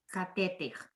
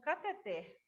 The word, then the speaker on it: cateter: Catéter. Catéter. O professor ensinou que essa palavra aqui é pronunciada como cateter, por causa da sílaba tônica. Para ser catéter, teria que ter um acento agudo aqui no E.